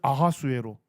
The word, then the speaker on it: 아하수에로: 뭐라고 하죠 아로라 합니다 그니까 히브리어 발음으로 할 때는 아하수에로 그리스 발음으로 할 때는 크세르크세스 동일한 인물입니다 그다음에 아닥사스다 일까지 어디에